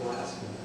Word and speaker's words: Pulaski: We know that it was General Pulaski. In fact, there are still people in the village of this town of Richland that want to change it to Pulaski, but they do pronounce it Pulaski.